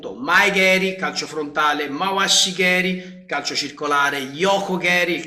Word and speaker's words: keri: quindi no ci siamo è con la k carey che però per regole di pronuncia si è associato a un altra parola la cappa diventa g e quindi foneticamente suona meglio e si trasforma quindi mai non diventa mai